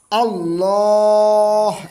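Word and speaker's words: الله: কিংবা পেশ থাকে তাহলে আল্লাহ কথাটি মোটা হবে অর্থাৎ ল বলতে হবে যেমন আল্লাহ আল্লাহ এরকম আর যদি জেল থাকে তাহলে পাতলা প্রিয় শিক্ষার্থী ভাই বোনেরা আশা করি আপনারা বুঝতে পেরেছেন।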